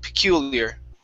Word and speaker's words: peculiar: So that U is going to be an EU sound. Peculiar. Very similar to Cuba, right?